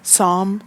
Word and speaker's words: Psalm: that's from the Bible so it's P si LM so Psalm I don't think you pronounce this P like psychology Psalm so the screenshot that